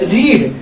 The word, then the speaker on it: read: अब रीड, क्योंकि आप देखेंगे जब तो रीड, रेड, रेड इस तरीके से बोला जाता है, लेकिन उसकी स्पेलिंग एक ही होती है READ, लेकिन इसका प्रोनाउंसिएशन चेंज होता है।